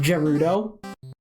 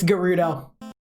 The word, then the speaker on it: Gerudo: get into gudo town for the longest time I thought it was pronounced Gerudo kind of like how you pronounce it gif so uh yeah it's gudo I may be dumb